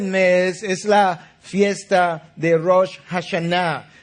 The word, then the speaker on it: Rosh Hashanah: El primer día del mes es la fiesta de Rosh Hashanah, lo que los norteamericanos pronuncian como Rosh Hashanah.